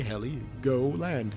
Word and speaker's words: Heligoland: Heligoland. That's gotta be it. H-E-L-I, Heli, go land. Heligoland.